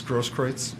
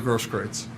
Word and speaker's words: Grosskreutz: I'm not sure how you pronounce his last name, Gage. I believe it's Grosskreutz.